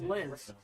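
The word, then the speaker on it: Sclis: It's spelled S-C-L-I-S. That's pronounced Sliz.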